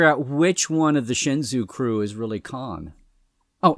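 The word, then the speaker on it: Shenzhou: when we write OU so in Japanese all vowels are pronounced so it's not like in English where you have two vowels together and they they form some other sound you actually pronounce them so if this were Japanese this ouu would be pronounced o o you would have to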